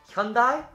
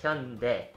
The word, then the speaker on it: Hyundai: the next word is hyundai again similar to taekwondo i've heard people pronounce hyundai as hyundai but it's actually more like hyundai as you guys probably